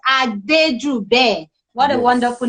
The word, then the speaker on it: Adejube: me people please uh the spelling i wrote down there is not his name his name is adeju bay what a wonderful name